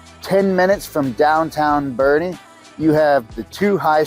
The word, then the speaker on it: Boerne: and so you know Bernie is just one of my favorite communities right outside of San Antonio and on top of that is pronounced Bernie not borne as many people say I think I even